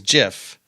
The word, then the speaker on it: GIF: or not it's pronounced gif or Jif well the creator said it was jiff like giraffe so it's pretty much